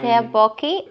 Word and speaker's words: tteokbokki: I was going to cook tteokbokki, if I'm pronouncing it correctly. I think it's tteokbokki. But It's tteokbokki.